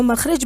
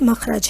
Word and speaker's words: مخرج: مخرج کسے کہتے ہیں۔ اس کا اصل تلفظ مخرج ہے، بہت سے لوگ اس کو مخرج بولتے ہیں جبکہ اس کا صحیح تلفظ مخرج ہے۔ مخرج کہتے ہیں